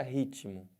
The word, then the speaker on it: ritmo: Eles falam que esse T aqui é mudo, né? Mas não tem nenhuma letra que fala. Então não tem esse negócio de mudo. Se você ouve o T, ele tem som.